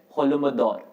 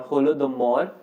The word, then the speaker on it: Holodomor: was created which is known as holy mador or holy mador or holodomor as it is pronounced